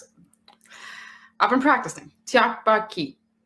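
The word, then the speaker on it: 떡볶이: It's been a long Tteokbokki. Mhm. And that's how you pronounce it. I've been practicing. Tteokbokki.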